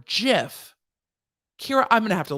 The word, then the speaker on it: GIF: death announcement he says correct pronunciation is soft g or jif kyra i'm gonna have